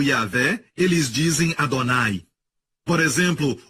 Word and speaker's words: Yahweh: Rio de rei rei que deve ser pronunciado yaveh eles dizem Adonai por